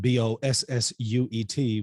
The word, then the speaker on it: Bossuet: All right, so according to the French bishop, Jacques Bossuet, it's spelled B-O-S-S-U-E-T, but it's pronounced Bossuet.